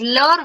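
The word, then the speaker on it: leurs: Leur, and the pluriel is leur with an S, but we do not pronounce the last letter.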